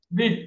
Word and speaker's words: width: Width. There you go. The D is silent.